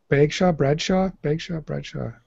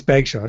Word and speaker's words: Bagshaw: It is Sean, and I'm sorry if he watches this and I got his name wrong. It's embarrassing. It's Bagshaw.